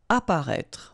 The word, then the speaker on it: apparaître: Apparaître. Okay, so exactly the same situation here with this circonflexe. You don't pronounce it.